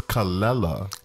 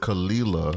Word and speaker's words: Kelela: I love a newbie too her name is calella she has made it you know know that that is how it's pronounced people would normally pronounce it khalila oh see or Canada or someone else on